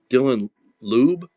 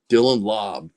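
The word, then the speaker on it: Laube: Dylan Lube.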